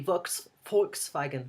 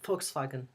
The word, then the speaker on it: Volkswagen: That's German pronunciation. It's not necessarily the English pronunciation. Pronunciation in English would be a Volkswagen, but in German would be Volkswagen. Volkswagen. V is like a F.